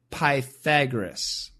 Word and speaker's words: Pythagoras: We say Pythagoras and the Pythagorean theorem.